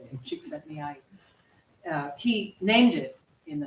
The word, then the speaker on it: Csikszentmihalyi: It was named by a psychologist named Csikszentmihalyi. I just did that because I learned how to pronounce his name. It feels good to say it. Csikszentmihalyi.